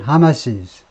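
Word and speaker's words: Hamas's: 다음에 발음은 어떻게 되느냐? 발음은 달라요. 이것은 주격과 똑같습니다. 즉 apostrophe가 붙으나 마나 그냥 하마스예요. 그 다음에 이렇게 apostrophe S 하면요 발음이 달라져요. 하마스, 주격은 소유격은 하마시스. 그래서 이렇게 구별하는 거, 스펠링과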